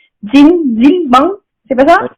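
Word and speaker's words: 찜질방: Alors, c'est à Jimgilbang, je crois. C'est quelque chose comme ça. Alors, je sais pas comment on le prononce. Jimgilbang, c'est pas ça? Jimgilbang, ouais. Voilà, Jimgilbang.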